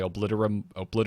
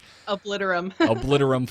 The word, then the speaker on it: Obliterum: I was able to make the ridiculously expensive gloves that I needed to make my obliterium. Yep. How do you pronounce it? Forge. Obliterum forge.